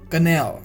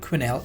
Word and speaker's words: quenelle: Quenelle. The pronunciation of this is not quenelle, is quenelle.